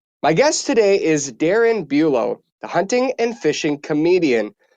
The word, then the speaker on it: Bulow: Did Did I Bulo is how you pronounce that?